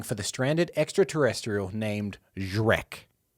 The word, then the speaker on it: Zrek: The aliens are searching for the stranded extraterrestrial named Zrek. Drek. Z-R-E-K.